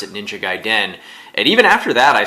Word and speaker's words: Gaiden: the original and Ninja Gaiden um I as a kid always used to call it a Ninja Gaiden wasn't until I saw the wizard that I had seen anybody pronounce it ninja guy dead and even after that